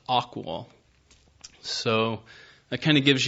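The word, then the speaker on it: AQAL: in has the acronym AQA L which is pronounced aqual so that kind of gives you an overarching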